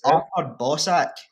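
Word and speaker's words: Artur Boruc: Apparently, we've all been saying this wrong all our lives. It's Arthur Bosak. I think she's fucking with you. Bosak. That's how you Arthur Bosak.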